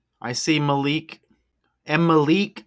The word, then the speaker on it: Malik: I see Malik and Malik rhymes with Meek as well.